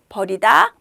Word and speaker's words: 벌이다: 그래서 발음이 비슷하지만 긴 소리, 짧은 소리만 다르다. 버리다. 버리다. 이렇게 구별하시면 됩니다.